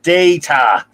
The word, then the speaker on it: Data: when she dismissed wharf and disrespected data it's pronounced data interesting premise uh but no info on the